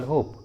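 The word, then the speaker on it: hope: For example होप, होप। यहाँ पर ई last में है तो ई को उच्चारण नहीं करेंगे, इसलिए इसका सही उच्चारण होगा होप, होप।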